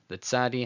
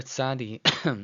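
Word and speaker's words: צדי: Now, the letter Sadi is another sibilant. Makes a sound like you're clicking your teeth, as in the imagine how the word cats ends. Cats, cats.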